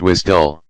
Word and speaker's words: WSDL: between web service applications WSDL is pronounced as wisdom and di uddi is